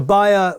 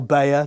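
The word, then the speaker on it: Beyer: Zeppelin etc but the buyer or Beier depending how you want to pronounce it m16 T is a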